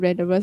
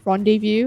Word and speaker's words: rendezvous: to pronounce the word random verse until someone told me like yeah it's actually french origin so it's pronounced as rendezvous i was like oh